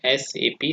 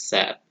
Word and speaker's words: SAP: So it is an initialism, not a acronym. So while pronouncing, we should pronounce it is like SAP separately, not as SAP.